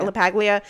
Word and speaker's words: LaPaglia: I'm guessing it's LaPaglia. Okay, yeah, LaPaglia.